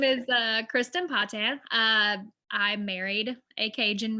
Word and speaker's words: Patin: grace yes um so my name is kristin patan um i had to say my name again because uh it's like everyone says patent or patent or like something really weird i struggle pronouncing my